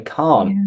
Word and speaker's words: can't: So I think this is easy in British English, at least, because it's pronounced like something you drive, like a car. I can't.